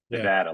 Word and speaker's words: Nevada: Silver State uh Nevada I pronounce it incorrectly almost always but I think I got it right that time no Nevada my Nevada sister says it my Nevada sister Nevada Nevada like Vlad so Nevada again it's been won